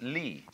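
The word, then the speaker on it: 理: universe which is this they pronounce it Lee now this sign has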